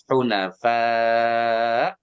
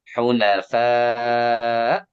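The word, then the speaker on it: حنفاء: Gimana cara baca hamzah mati? Itu suara ngerem. Intonasi naik sedikit. Ya, lagi nih. Hunafa. Nah, yang ngerem itulah hamzah. Hunafa.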